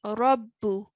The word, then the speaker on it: رب: Yeah, رب. The ba has a shadda and a dhamma.